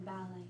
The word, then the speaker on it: ballet: So the T in ballet is silent.